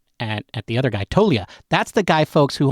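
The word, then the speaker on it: Toglia: like he's huge yeah he spells his name tolia but he pronounces it toia and he missed he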